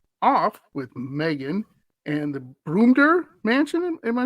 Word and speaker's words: Brumder: with Megan and the broomter mansion in my pronouncing all right I think it's brummedder but I got a mushroom